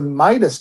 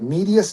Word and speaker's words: Midas: And Midas Touch, spelt that way, I guess it's like Medias Touch, is the right pronunciation.